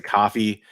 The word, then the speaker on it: Ko-fi: A lot of people pronounce it coffee. You know how I am about pronouncing things. If I know the right way to pronounce it, I'm gonna pronounce it correctly. The whole thing is like buy me a cup of coffee.